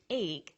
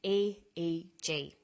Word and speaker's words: EEG: We don't pronounce it EEG, we say EEG.